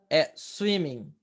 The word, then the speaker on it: swimming: Então, singing, swimming, jumping, dancing, a gente não pronuncia o G, tá bom?